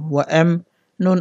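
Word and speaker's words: وأمنا: যেহেতু এখানে অকফু করবো অকফু করলে নুনে একলিপ টানতে হবে, উচ্চারণ হবে ওয়া এম না।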